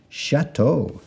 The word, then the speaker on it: chateau: a t e a u lots of vowels Chateau a chateau our next word is parachute so we have Pera spelled with p-a-r-a para then we have our CH